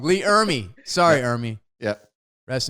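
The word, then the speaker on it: Ermey: It's not Army, it's Ermy. Arlie Ermy. Ermy.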